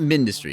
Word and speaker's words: Mindustry: I'm going to call it Mindustry because it kind of feels like it's mini. Like mini, mine, and it gets you the industry with the M and that.